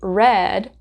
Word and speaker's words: read: it sounds different so in the past it is he read rhymes with the color red and in base form